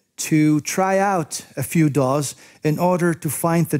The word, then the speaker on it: DAW: Such multi-track recording software is usually called Digital Audio Workstation, or DAW, usually pronounced as one word, DAW.